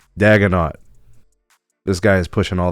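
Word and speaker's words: Daigneault: But the coach, who I believe his last name is pronounced Daganot.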